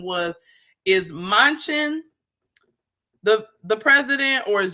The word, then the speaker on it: Manchin: other people specifically um i know i'm saying his name wrong mansion manchin um you know as